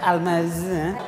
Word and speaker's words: Almaz: Cara-cara bacanya Almas.